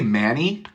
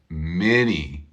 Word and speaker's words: many: word do I say Manny Manny hey thank you I don't say Manny I say many many what do you